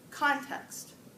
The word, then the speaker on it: context: on your own ok the first one is context context context context hmm where do you think this dress is for that first syllable that's good then we